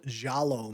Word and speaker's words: giallo: Technically, they're called giallo movies, which is it's not spelled like Jello. It's spelled like Giallo.